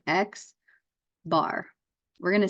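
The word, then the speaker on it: x̄: it is how it's what it looks like X bar we're going to say these a lot we're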